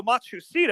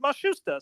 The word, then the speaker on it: Matsushita: We were calling you Hiro Matsushita, as you see it spelled, but they asked us to pronounce it Matsushita, so that's why we're doing that.